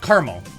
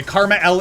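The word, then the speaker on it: KarmaL: official by the way karma l is how you say karma l came into my stream he said it himself it's not caramel it's not kermal it's karma l which is like crazy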